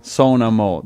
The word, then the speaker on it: Sonamó: no more which merely the name is a so no more which means I'm playing and playing now in reality the band it talks in third person so na mo the word doesn't exist in Italian it's just